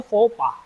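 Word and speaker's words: faux pas: जिससे आपको बाद में शर्मिंदगीगी महसूस होती है तो उस गलती को बोलते हैं फोफा। क्या बोलते हैं? फोफा। ठीक है? एक्स और एस दोनों साइलेंट है।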